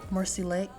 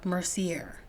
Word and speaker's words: Mercier: up with using my translucent powder by L'Oreal Mercy Lake wait a minute I'm thinking of pronouncing her name wrong it's Laura Mercier translucent powder I'm still maybe saying it wrong